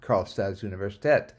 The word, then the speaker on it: Karlstads universitet: And then lower right, we have one of our previous classes that was there at Karlstads Universitet, which is how you say the University of Karlstad in Swedish.